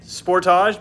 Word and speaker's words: Sportage: Kia Sportage, first of all, I say it Sportage because we're from Canada. That's how it's said here.